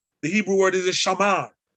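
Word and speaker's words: שָׁמַר: The Hebrew word is a shamar. You see it as samar, but it's shamar. It's pronounced shamar.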